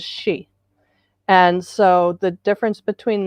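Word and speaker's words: sidhe: it the aoshi which the s-i-d-h-e um in his videos there's an a and an o word preceding it and he pronounces the whole thing since i'm no good with any of that i have no gift for language i'm going with his pronunciation so what you've got on the screen he would pronounce as she and so the difference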